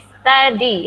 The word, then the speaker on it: study: Ini study ya. Study. Dibacanya pakai A.